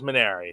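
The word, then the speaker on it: Mainieri: guys pronounce it and Jay Johnson says maner so that is that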